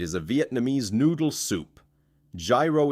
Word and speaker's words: gyro: Gyro is said yee-ro.